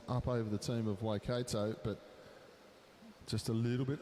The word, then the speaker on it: Waikato: for my bad pronunciation it is waikato not waikato which i've been saying so waikato thank you for your